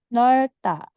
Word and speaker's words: 넓다: Jadi kalau ada dua bacim di bawah, maka biasanya hanya satu yang dibaca. Kecuali diikuti dengan bunyi vokal setelahnya, maka dua-duanya dibaca. Tapi yang bacim di belakang akan ngikut ke vokal, jadi dibacanya bareng sama vokalnya.